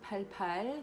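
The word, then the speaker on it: 팔팔: Comme vous apprenez par cœur le chiffre 7 7 8 8 en coréen ça se prononce comme palpal qui sont des stimulés visuels pour utiliser la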